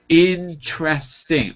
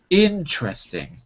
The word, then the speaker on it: interesting: interesting by the way notice interesting only three syllables in that word say that for me Victor interesting interesting that's it not interesting not four syllable three interesting interesting good the